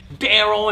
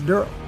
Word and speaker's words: Merle: And he plays Daryl. And it's spelled D-E-R-L-E. It's not Daryl, it's Daryl. Please get that right.